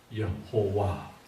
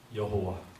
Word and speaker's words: 여호와: 모르고 수천년을 지난 거예요 자 그러다가 마소라 학파의 사람들이이 모음을 개발하면서 아도나이 들어간이 모음을이 테트라그라마톤 이렇게 끼워 넣으면서 딱 끼워 넣으니까 발음이 어떻게 되느냐면 여호와 이렇게 발음이 된 겁니다 이제 그때부터 여호와 아